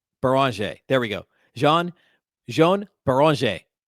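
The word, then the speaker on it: Beringer: Beranger.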